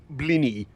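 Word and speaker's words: Blaenau: to learn some welsh blano is pronounced blinny what this relates to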